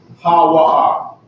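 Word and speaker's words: הוא: connected to something, is ha-wa-ah. All right? Ha-wa-ah. Ha-wa-ah is how you say he when it's lonesome, all right?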